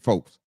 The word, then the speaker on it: Foles: Super Bowl winning quarterback Nick Foles. Make sure you say it right.